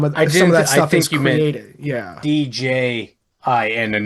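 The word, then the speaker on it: djinn: DJ J I N and not G I N. Yeah. I think it's still pronounced Jin though, isn't it?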